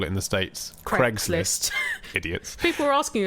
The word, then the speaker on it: Craig: that the way that the Americans pronounced the name Craig to rhyme with egg troubles me so weird